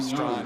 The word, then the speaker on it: Strahan: I always like to mess with when Chloe Strahan was at Rockridge. She graduated last year. Everybody, all the PA announcers could never pronounce their last name right. It was always Strachan or Strachan. It's Strahan, everybody.